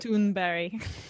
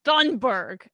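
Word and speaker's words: Thunberg: to my nordic sister greta toonberry that's pretty cool i think that's that's the actual pronunciation and i used to say that in videos and i'd get like messages it's thundberg i'm like it's not what would your name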